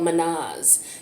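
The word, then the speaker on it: Mannaz: So the rune that came up here is the rune called Manaz. It's spelled M-A-N-N-A-Z.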